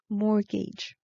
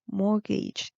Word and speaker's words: mortgage: beard next word is mortgage mortgage the t is silent okay um so look